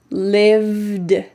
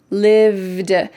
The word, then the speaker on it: lived: And that other word lived, lived. It just has a final D sound. There isn't the vowel E.